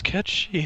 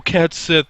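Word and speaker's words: Cait Sith: You're gonna get people like, who the fuck is Cat Shi? And it's like, oh, Cat Sith.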